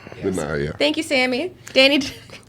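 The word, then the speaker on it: Danai: Danny, I'm going to mispronounce her name. So Danny Guerrera, I believe is how you pronounce it. Deny? Deny, yeah.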